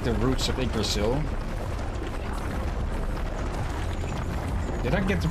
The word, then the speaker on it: Yggdrasil: It depends very much which part of the Scandinavian countries or Iceland you're referring to here. This we say Yggdrasil.